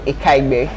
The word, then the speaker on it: Ikaigbe: Has just been corrected about the pronunciation of his last name. Miracle Ikaigbe.